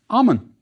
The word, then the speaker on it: Amon: worry about honorific placement the first part of the king's name was pronounced Ammon next we have the